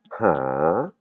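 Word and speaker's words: หา: "ho hip" et là, ça va se prononcer pas "a" mais "ha" "ha" comme si je me bouchais le nez hein. "Ha" c'est le verbe "chercher".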